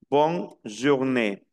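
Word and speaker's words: bonne journée: Qué significa adiós bon miren que pronunci esta e que tiene tilde pero la e que no tiene tilde no se pronuncia entonces queda bon jour bon journe Qué significa feliz mañana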